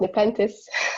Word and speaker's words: Nepenthes: bottle and that's how the design of the nepenthes bottle uh came up uh actually so um marcus it's it's pronounced in the pentas but it's okay and this is the actual